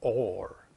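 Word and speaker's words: אור: is light, Aor, or Or. It's pronounced Or. That light is pronounced with Aleph, Vav, and Resh.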